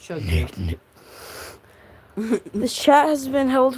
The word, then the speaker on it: Chug Jug: You keep on saying it wrong, bro. It's chug jug.